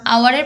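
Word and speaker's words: hour: Dash আওয়ার, এখানেও অ্যান আওয়ার হবে, কারণ আওয়ারের প্রথম অক্ষর এইচ হওয়া সত্ত্বেও আমরা এর উচ্চারণটা আওয়ার করছি, অর্থাৎ ও এর উচ্চারণটা আমরা প্রথমে করছি, এইচ এর উচ্চারণটা এখানে হচ্ছে না।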